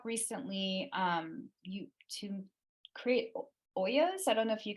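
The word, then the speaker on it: olla: called it's called an Oya um o-l-l-a so it's the Spanish pronunciation okay um you might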